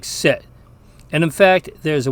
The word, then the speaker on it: sit: Now the short I in Latin is pronounced the same way as the English I in a word like sit.